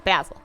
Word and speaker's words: basil: recent threesome appreciate it basil is a good kitten name pronounced with the ah not the F yeah basil basil I know I